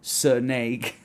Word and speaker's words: snake: but cheap sheep snake snake just one syllable not two it's not snake snake snake hour oh this